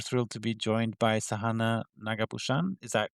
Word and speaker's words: Sahana Nagabhushan: I'm super thrilled to be joined by Sahana Nagabhushan. Is that correctly pronounced?